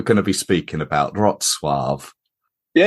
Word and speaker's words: Wrocław: to be speaking about, Wrocław? Yeah, it's very, very close. My pronunciation of my surname was actually perfect. For the city, yes, almost good also. I would say Wrocław with very strong V, Wrocław.